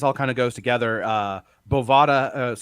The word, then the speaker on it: Bovada: Bovada, the book that rhymes with Nevada, whatever.